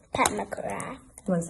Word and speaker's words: Pat McGrath: Pat McGraw, yes. To say her name right, let's make sure we say all the things. McGrath. Pat McGrath.